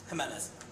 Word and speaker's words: Jimenez: How do you pronounce your J? Your. Jimenez. Hello? So pronounce it like an H.